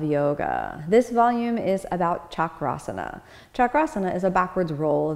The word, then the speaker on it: chakrasana: designation as opposed chakra is a wheel so chakrasana is literally the wheel pose so it's to